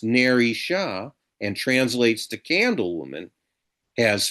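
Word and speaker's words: Nerissa: And just as Porsche's name has Hebrew phonetic resonance, Narissa, her handmaidaden's name, which can be pronounced Ner Sha and translates to candlewoman, has phonetic resonance.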